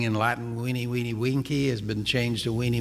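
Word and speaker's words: veni, vidi, vici: And the old saying in Latin, weenie, weenie, winky, has been changed to weenie, weenie, visa. Okay? The V's in Latin are pronounced like W's.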